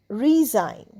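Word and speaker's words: resign: এস আই জি এন রিজাইন এখানেও দেখো জি এন পাশাপাশি তো জি এর উচ্চারণ হবে না রিজাইন রিজাইন মানে আমরা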